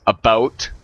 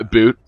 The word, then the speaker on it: about: it is there but it's not a or a brute it's about we say it like that not a boot so anyways i hope